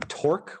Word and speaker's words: torque: should be fun um which is on torque which rhymes with fork where is my purchas